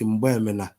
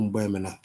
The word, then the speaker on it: Mgbemena: Correct pronunciation is Mgbemena. I know of Ụkọchukwu Mgbemena.